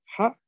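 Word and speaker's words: は: Vamos a empezar con la sílaba ha. ¿O cómo también podríamos leer esta? Cuando es partícula, como wa. Perfecto, muy bien. Cuando es partícula, como wa, ¿no? Pero la sílaba es ha.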